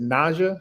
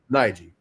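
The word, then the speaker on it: Najeh: Uh, how do you is it is it Naja? How do you say your name? Nigi.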